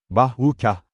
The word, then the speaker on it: bajuca: Orman her zaman, kenarlarda bambu ve bajuca, yani, bahukah, olarak telaffuz edilir, birbirleriyle rekabet ederek geçilmez bir duvar oluşturur.